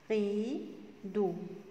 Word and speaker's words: rideau: C'est un rideau. C'est prononcé comme la lettre O. Un rideau.